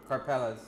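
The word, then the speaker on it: Karpelès: Karpeles.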